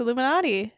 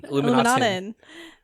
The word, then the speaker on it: Illuminaten: Be sure to join us next week as we most likely discuss PAX Illuminati. Is it? Wait, I keep saying it wrong. PAX what? Illuminaten. As we discuss PAX Illuminaten.